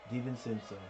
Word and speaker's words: DiVincenzo: DiVincenzo.